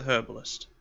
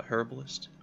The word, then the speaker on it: herbalist: Next was the herbalist. Did I just call it a herbalist? Herbalist. There's never pronounced that H.